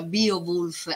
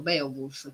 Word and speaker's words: Beowulf: rica lo stesso nome beowulf agente lo pronuncia bio bulls all'inglese ma all'epoca si pronunciava come scritto beowulf quindi io ci tengo